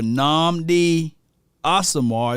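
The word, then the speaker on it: Nnamdi Asomugha: a better combination slay and james bradbury or namdi asamar that's how you say his name and roger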